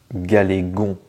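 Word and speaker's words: Galegon: bien ça se prononce galégon tout simplement c'est un mélange entre galet et Dragon voilà galégon Pokémon suivant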